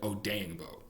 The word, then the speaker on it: Odeyingbo: There's another guy whose name is Odenegbo, and it's spelled similar. So I want to say that as opposed to Odeyingbo.